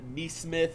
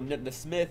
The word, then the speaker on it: Nesmith: Aaron Nesmith, or Nesmith, I think is how you say it.